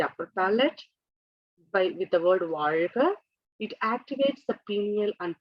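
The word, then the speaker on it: வாழ்க: So when we do that, the way to pronounce this word is you have to fold the tongue and touch the upper palate and say R.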